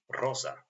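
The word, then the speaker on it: роза: Next word uh we already know all the letters but this one pronounced like looks like number three but pronounced like z. So it would be rosa.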